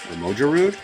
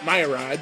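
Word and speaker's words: Mogyoród: Located in, this is the hard to pronounce part, I think it's Magyarud. Close enough. A weird one. Hungary. I always called it Mayrad, but maybe I'm wrong.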